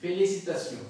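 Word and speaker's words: félicitations: সি তা see you, ফে লি সি তা সিউ, ফেলিসিটাসিউ, ফেলিসিটাসিউ উচ্চারণ হচ্ছে মানে অর্থ হচ্ছে অভিনন্দন, ফেলি সিতা সিউ, ফেলি সিতা সিউ।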